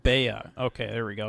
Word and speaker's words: Bea: It's pronounced Bea. Okay, there we go. Because it's short for Beatrice.